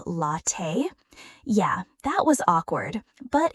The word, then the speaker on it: latte: Example, that moment when you said latte like lay-tea instead of latte.